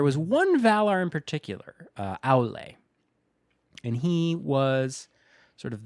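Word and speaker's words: Aulë: Aule? Aule. A-U-L-E. E with a little umlaut Aule. thing. Aule. I think that's how you say it.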